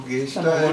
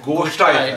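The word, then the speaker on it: गोष्ठ्याय: Namo Geshtaya cha. Sorry, Nama Goshtaya cha.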